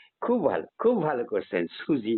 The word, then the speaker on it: সুজি: রকম মিষ্ট ভালো ভালো সুজি নয় সুজি দন্তস্য আর জ এর মাঝামাঝি উচ্চারণ সুজি আসলে আমার নাম ছিল